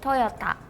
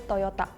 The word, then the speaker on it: Toyota: say Toyota we say Toyota with the T maybe it was me when I pronounced it I heard more like a D sound it's a